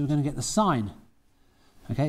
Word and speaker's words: sin: Now we're going to sine this, so we're going to get the sine. Okay, it says sin, but we pronounce it sine.